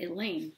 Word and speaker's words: Elaine: I may be a short timer, but you don't have to be at our school very long to know that Elaine rhymes with pain.